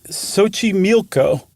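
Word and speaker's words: Xochimilco: really is it's Lake sochimilco and friends look up Sochi mioko it is not in any way shape or form as far as an English speaker is concerned spelled like it's pronounced yeah it's XO c-h-i-m-i-l-c-o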